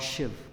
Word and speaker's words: Shiv: I'll make you look Shiva Shiva shiv is the correct pronunciation lordship was a savior